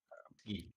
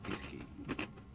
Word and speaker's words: Iski: It's not. It's Iski. Iski? Yeah. Ah, nice. I'm glad I asked now. Thank you, Iski. Yeah. Like in English, it's hard to pronounce, but if you speak French, you know that it's like pronounced Iski.